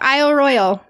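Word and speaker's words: Isle Royale: okay yeah you did great yep but it's Isle Royal so know yeah if you didn't know now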